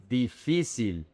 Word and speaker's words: difícil: The emphasis is in fi. Difícil. It's not difícil. It's not difícil. And this is tricky also because there are 3 I's. So the English brain tends to change the pronunciation of one of these I's. But each and every one of these I's is pronounced exactly the same.